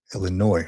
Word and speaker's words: Illinois: Sergeant stacking Illinois has Illinois, right? The S is silent.